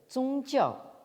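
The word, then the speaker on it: 宗教: un néologisme en japonais, le japonais donc shukyo, prononcé en chinois donc zongjiao.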